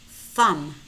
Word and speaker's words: thumb: Notice how in many of these words we have MB clusters. And in these words, normally the B is silent. We only pronounce the M.